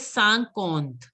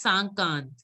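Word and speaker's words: cinquante: You will not pronouncing it as Sankond. It has to be Sank. In is pronounced as Sang. So it is Sankond. You were pronouncing it as Sankant.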